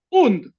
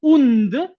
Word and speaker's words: und: Primero la unidad, luego la conjunción und equivalente al and del inglés, solo que se pronuncia como una u undena.